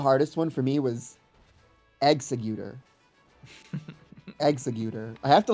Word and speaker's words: Exeggutor: I think the hardest one for me was executor. Executor. I have to like read it. I have to like see it written down cuz in my head I'm like exeggutor. But it's like no, it's executor.